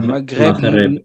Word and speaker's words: Maghreb: Qui se prononce en voilà, Maghreb. Mais en arabe, on dira plutôt mar, comme j'en ai marre. Et le R de l'espagnol Roberto, Maghreb.